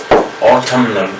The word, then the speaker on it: autumn: Otherwise, N is autumn, N is silent, mostly we keep in case of autumn. Autumn is the weather, the condition of the weather, one of the season of the weather, right? Okay. Autumnal, but here N is pronounced, but mostly autumn, we say autumn, A-U-T-U-M-N, okay, that means autumn. N is silent, but in this case autumnal we have to say.